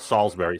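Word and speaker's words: Salisbury: be at Sal well we call it Salsbury Salsbury uh Beach the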